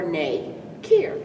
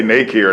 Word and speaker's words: Nakier: do really i mean it's like two syllables like no or nay care right right so they say naked here that's closer then yeah i'm okay